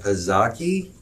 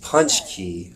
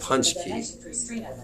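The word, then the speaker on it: pączki: you a polish donut this is called a pazaki donut i don't know if i'm pronouncing that correctly but it looks like a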